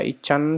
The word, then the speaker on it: ICANN: Bacanya ICANN ya enak.